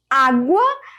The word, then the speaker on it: água: Então, água, veja o som do U aí.